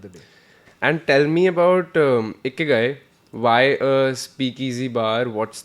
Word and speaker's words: Ikigai: Japanese, am I pronouncing it right? Omakase, yes. And it's a Ikigai? Yeah. Ikigai.